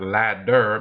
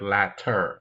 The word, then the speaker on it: latter: know it's the latter right not ladder but latter I hope y'all got